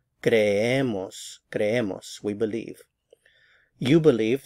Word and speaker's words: creemos: So again, stress right here. Creemos, creemos.